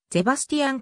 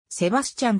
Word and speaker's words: Sebastian: はドイツの俳優ドイツ語の発音ではゼバスティアン子二歩と表記する方がより正確であるが日本では英語読みでセバスチャンと書かれることが多いカールスルーエ出身